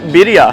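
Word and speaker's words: birria: year but uh hopefully they bring back the berea tacos or birya how do you say berria or birya either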